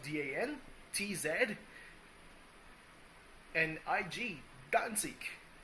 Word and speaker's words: Danzig: Whereas Danzig, you have the DAN, TZ, and IG, Danzig. Obviously, the G is pronounced kind of like a K because it's a German word, so it comes off as a hard, very hard G.